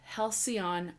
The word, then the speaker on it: Halcyon: So, and then I started The Tale of Halcyon Crane.